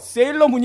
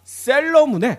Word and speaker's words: 셀러문: 이거 발음을 잘해야 돼요. 세일러문이 아니라 셀러문의 노한나님을 모셨습니다.